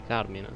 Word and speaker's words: Carmine: In teoria è italiano, quindi Carmine.